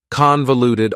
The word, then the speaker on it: convoluted: Convoluted also has 4 syllables, and the stress is on the first syllable, convoluted. That second syllable again has that schwa sound, that reduced vowel sound.